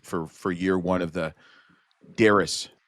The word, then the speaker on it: Darris: It'd be there's no you in Darris, and I say that because everybody calls me Darius, and my name's not Darius. Well, it rhymes with Harris.